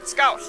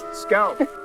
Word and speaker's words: skål: Skål. Skål.